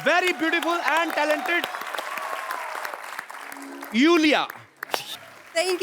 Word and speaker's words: Iulia: यू यू yes. Pronounce यूलिया। यूलिया। एंड the spellings are आई यू एल आई ए। सो आई I think you know I mean why I everyone is calling me बट आई